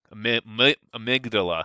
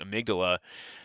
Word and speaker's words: amygdala: so the um dolla which i pronounced that wrong amygdala excuse me please and i just butchered that i don't know what i was thinking amygdala that stores memories associated